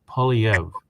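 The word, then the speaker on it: Poilievre: his name is Pierre POV now no matter how you think it's spelled it's a French name so you can't pronounce it phonetically it's it's just simply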